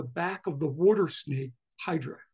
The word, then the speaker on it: Hydra: of the water snake, Hydra, or Hydra. I always pronounce it in Greek, it's Hydra in Greek.